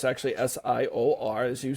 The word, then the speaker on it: SIOR: uh so we uh so SI is not Sor which a lot of people will pronounce it as Sor it's actually s IO r as you said um and it's great to